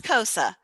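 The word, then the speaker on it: Xhosa: Spell it. HOSA. K. Kois. X. That's Kosa.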